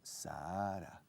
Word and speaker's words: Sahara: In English, Sahara. Es un H. The Sahara Desert. El H se pronuncia, se aspira.